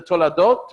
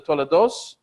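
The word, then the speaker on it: תולדות: So when we get to the toladot, or the tolados, in Ashkenazic pronunciation, this is the generations.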